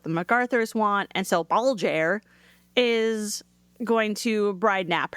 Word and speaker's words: Balgair: What a name, Baljer. I even looked up the pronunciation. I was like, wow. How's it spelled? Balgair.